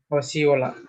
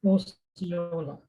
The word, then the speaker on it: Osceola: I don't know how to pronounce it. Osceola. Osceola. Okay. Osceola.